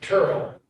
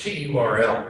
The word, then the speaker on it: Turl: They go, the narrator catches up with Turl, which is Terrell, right? Pronounced Turl, but his name is Terrell.